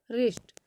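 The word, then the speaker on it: wrist: तो for example देखिएगा जैसे राइट रंग रिस्ट यहां पर देखिएगा तो डब्लू के बाद आर आ रहा है तो यहां पर डब्लू का उच्चारण नहीं होगा अब देखिएगा अगर किसी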